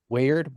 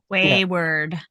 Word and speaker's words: Wayward: at the weard and weard I always say it wrong anyway weard Wayward Wayward yeah which is funny